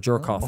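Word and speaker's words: Djorkaeff: diamond World Cup winner Yuri durkheff or jerkoff and that's how you pronounce his name yes Johnson because of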